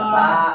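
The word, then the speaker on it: ث: এখন আমি 3টা ফোঁটা দিলাম এটার উপর, তা, এখন এটা উচ্চারণ হবে জিহ্বার আগা, এই দাঁতের আগায় লাগাইয়া সা।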